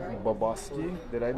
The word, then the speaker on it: Bobosky: Folks, we're live with now help me pronounce your last name. It's Bobosky.